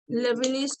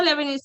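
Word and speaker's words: Leibniz: होगा लेबनिज theorem, नाम सुने ही नहीं है।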